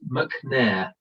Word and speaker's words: Mcnair: You got exactly right, and then it's Mcnair. Mcnair, Mcnair. That's Scottish. Oh my God.